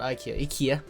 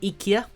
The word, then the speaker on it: IKEA: Actually, not IKEA. That's how you pronounce it, IKEA.